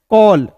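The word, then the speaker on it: call: के रूप में तो सी ए डबल एल क्या होगा दोस्तों कॉल होता है ना जी कॉल उसके बाद देखिए यहां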